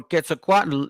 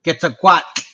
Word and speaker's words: Quetzalcoatl: It says the name of their culture, hero Kukulkan or Quetzalcoatl, incorporates the word serpent, Maya, and Nahuatl.